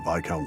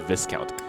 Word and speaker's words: viscount: I'll be honest, I never knew that's how you pronounce that word. I always said viscount.